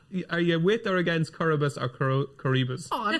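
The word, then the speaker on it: Coroebus: How are you pronouncing it, by the way? Coribus. Yeah, I say Coribus.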